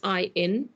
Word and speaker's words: Cynefin: Are you showing how we spell that Cynefin? If people want to read up on it. Yes, it's Cynefin.